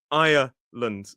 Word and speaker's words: Ireland: If we're talking about the Republic of Ireland, we use that sort of the diphthong I and a schwa, or even a triphthong. Some dictionaries may argue Ireland.